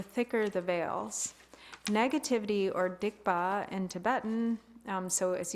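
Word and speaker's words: སྡིག་པ: negativity or dikba in Tibetan. Um so as you can see it's the widely spelling sod um s d i gp pa but pronounced dikba is sometimes translated as sin or misdeeds but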